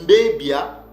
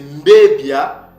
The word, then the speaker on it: mbebia: frères et sœurs donc ce mot-là se prononcer mbebia c'est mbbia ce n'est pas ABB AB ce n'est pas BB c'est pas un Beb mais c'est mbebia ou mbbi et mbbia ou mbbi veut dire quoi d'après